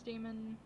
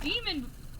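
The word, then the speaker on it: daemon: Most people tend to pronounce Damon nowadays as Damon to differentiate between the two. Yeah! Yeah, see, I was calling it demon.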